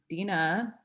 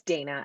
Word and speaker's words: Dina: panel sure um it's dana actually it's spelled dina but pronounced dana um and let's see